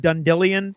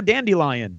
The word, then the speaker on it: Dandelion: I've got a couple theories, but Russ, remember the bard Dundillion? Yeah, right. Okay, well his name is now Dandelion. No, yeah, that's a thing. It's spelled dandelion. Okay, but it's been depends on the narrator. In the audiobooks it's been Dundillion. Yes. I never knew it was spelled Dandelion. It's been Dundillion in all of the audiobooks.